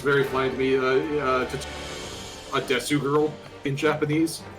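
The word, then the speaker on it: です: She's the one who pronounces it Desu. Which is just sort of like a thing, mostly with cutesy Japanese characters. Yeah, because it's usually meant to be des.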